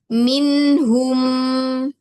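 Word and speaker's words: مِنْهُمْ: hum afwan minhum minhum iya minya harus mi bukan min bukan minhum tapi min ah ini bu ah bibirnya turun sedikit ngikutin rahang di giginya kelihatan dikit yang bawah m mi gigi bawah kelihatan minhum minhum.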